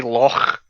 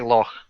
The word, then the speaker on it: Loch: No, we say loch. You say Loch? Loch. Yeah, we say that's, loch. That's exactly how you pronounce. Oh, that's the one way to pronounce the ch in German.